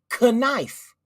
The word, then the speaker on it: knife: The word knife actually used to be pronounced knife. But they said it was so complicated to pronounce the K that they just made it silent.